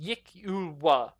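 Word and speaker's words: Yklwa: But most of her inventory consists of flint, daggers, and these things called Yukwalas, pronounced Yikulwa.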